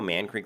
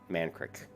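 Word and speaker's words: Mankrik: Creek ma NK Rik I would pronounce that man Creek so they're always not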